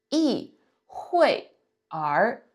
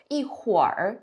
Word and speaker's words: 一会儿: Okay, so pay attention to the pronunciation here. If we break it down, it's 一会儿, right? So 一会儿, but you didn't hear me read it like that, right? I kind of connected them and I combined the pronunciation to become 一会儿, right? So this is how you read the R in a sentence.